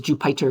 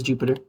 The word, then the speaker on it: Jupyter: That's how you pronounce it. Jup. I used to think it was Jupiter because like pi for Python, but no, they want to pronounce it as Jupiter.